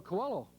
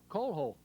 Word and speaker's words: Coelho: He says, "Well, my name is Manuel Coelho." He said, "You're pronouncing it Coelho." He said, "That's incorrect."